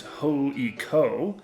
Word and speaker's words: HJK: So yes, on this trip to Helsinki, we saw HJK, which in Finnish is pronounced HJK.